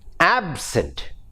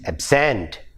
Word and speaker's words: absent: their change in function this happens in words like absent absent adjective but when it when it becomes a word it is absent absent the same way